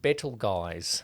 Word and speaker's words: Betelgeuse: Or Betelgeuse, Betelgeuse. as it's spelt.